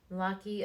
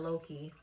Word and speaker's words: Lockie: I'm talking about my buddy Lockie. Am I saying it correctly? Correctly. It's getting late, and I've been sipping. Lockie. I know it's not Loki. I know it's definitely not pronounced Loki.